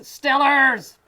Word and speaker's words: Steelers: It's pronounced Stillers.